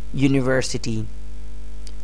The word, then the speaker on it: university: more examples university university although this word starts from a vowel but the initial sound is not a vowel sound it's a consonant sound university university u y y is the initial sound here if we use and it would be entirely wrong another example is European